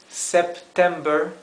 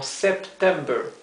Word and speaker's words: September: Fíjense que en inglés cuando tenemos dos consonantes juntas como September, October, en inglés es mucho más preciso en la pronunciación que el español. En inglés se pronuncia muy claramente esas dos consonantes que están juntas, ¿sí?